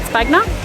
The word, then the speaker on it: Piazza di Spagna: Stace has just suggested that maybe it is pronounced Piazza di Spagna, not Spagna, and that is my real Australian accent coming out there.